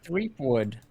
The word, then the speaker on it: Threepwood: Threepwood. Okay. It's spelled Weasel Boy, but it's pronounced Threepwood.